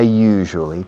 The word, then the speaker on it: usually: I usually talk to Maria during the programs. La palabra usually se usa muchísimo. Usually. La pronunciación es un poco complicada. You. Es como en francés. Je suis. You. Usually.